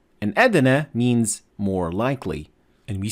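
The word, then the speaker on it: أدنى: of and in this position you have to pronounce the del with calcalla and you should say edene and if you want to learn more about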